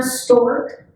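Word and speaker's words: Storch: we have two van stork and and the familiar with student at Sacramento spelled s-t-o-r-c-h but the proper pronunciation is like the bird that store that with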